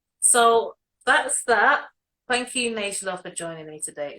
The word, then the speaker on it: Neighla: If you just type the house and my name, which is spelled Neila, spelled kind of like Neighla, so think of neighbours. So Neighla yeah, and it will come up.